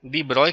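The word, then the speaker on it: de Broglie: This will be द डी ब्रोगले wavelength, ठीक है, डी ब्रॉय के पढ़ते हैं इसको, ये साइलेंट टर्म्स है यहाँ पे, ठीक है।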